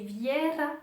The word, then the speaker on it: Vera: Instagram si Vera, enfin, puisqu'on le lit Vera, en fait, c'est juste le petit accent en fait, qu'il y a sur le E qui dit qu'il faut le prononcer Viera et non pas Vera. Et donc il m'a demandé